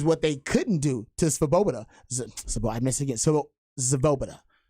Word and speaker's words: Svoboda: they couldn't do to Svoboda. I missed it again. Svoboda. Svoboda? I don't think the V is pronounced. I think you just say Swoboda.